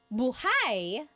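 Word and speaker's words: buháy: If you say buhai, the emphasis is on the second syllable. That means alive.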